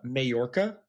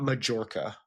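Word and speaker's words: Mallorca: He goes, "Hey, it's uh Mayorca, not Majorca." Because I said Majorca the first time, and I was like, I didn't know.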